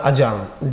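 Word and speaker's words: adjourn: और एक वर्ड होता है अजर्न, डी साइलेंट होता है, अजर्न, अजर्न, अजर्नड, अजर्न।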